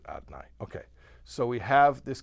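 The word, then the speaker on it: Adonai: We kind of skip a couple of the vowels, we pronounce it Adnai. Okay, so we have this concept that Hashem, that his Malchus, or his Shem Adnai, is his capacity to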